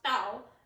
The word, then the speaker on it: Dao: Tao and Dao are the same thing, because remember the base word is pronounced Tao, and it's kind of up to you on how you want to interpret that.